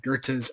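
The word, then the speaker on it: Goethe: even in Goths or gerta's own country I like goth because that's how it's spell but I'm pretty sure it's pronounced Gerta or something similar and it was no mere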